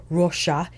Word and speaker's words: Roxa: Natasha denona Roa or Rosa in Portuguese if you wanted to pronounce the X with the sh sound and I wanted to